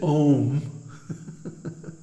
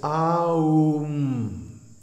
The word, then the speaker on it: Om: that the Pranava on don't mispronounce it ohm because first of all it has three letters a you mm-hmm and each one gets a full beat so it's not ohm it's um and then there's the Bindu the dot over the M and what does that mean well in the pronunciation it means a nasal termination and without that nasal